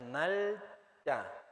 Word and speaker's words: 날짜: Fecha se llama 날짜, 날짜, Ok, para decir fecha es Nalcha.